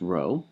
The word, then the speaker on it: rho: And the population version of the coefficient of correlation is following the convention referred to by the Greek letter row. It's spelled rho. It's pronounced row and it looks like a script P, but in fact it's the ancestor of our R.